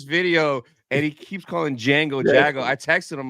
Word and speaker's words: Jango: Yeah, I know I'm bad at pronouncing, names. Tony knows, but he knows, you know. Jago Fett. I'm watching this video and he keeps calling Django That Jago.